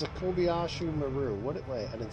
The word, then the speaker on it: Kobayashi Maru: No, it's a Kobayashi Maru. Wait, I didn't say it right. Oh, no way. Kobayashi Maru?